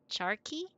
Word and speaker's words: charqui: And only in American that we read QU as qui, like que, like queen, kind of thing. But most places pronounce it with like a K sound.